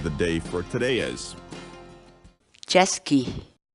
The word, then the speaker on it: chaskiy: series videos where we teach you how to pronounce certain words in quechua so our word of the day for today is Jeske Jeske Jeske in English the cat's wall word Jeske